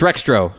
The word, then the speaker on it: Rextro: retrex um rextro rextro it's rextro I know it's rextro what's the next part is in the X silent retro with a silent X it's like Jango and